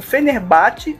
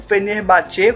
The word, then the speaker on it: Fenerbahçe: além do Galatasaray temos o fenerbaht ou o fenerbatê como alguns pronunciam e o besiktas o